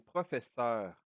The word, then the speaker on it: professeure: teacher, un professeur, une professeure. Actually, you can hear that when I pronounce it very fast, I don't pronounce the e. I put I put more intensity on the r at the end so we don't forget